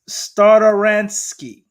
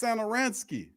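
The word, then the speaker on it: Satoranský: damn signing trade pronoun read that topless thomas starransky isn't it oh damn tomas no you didn't well how you say it then it's tomas santaransky santa ain't got no internet oh my goodness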